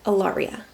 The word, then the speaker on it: Ellaria: what was happening, but Ellaria, or Ellie could be a nickname. It's spelled like ELL and then Aria, and not like Arya from Game of Thrones.